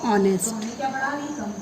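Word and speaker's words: honest: H silent है और इसका प्रोनाउंसिएशन हम क्या कर रहे हैं? ओ से कर रहे हैं, ऑनेस्ट, ऑनेस्ट, ठीक है।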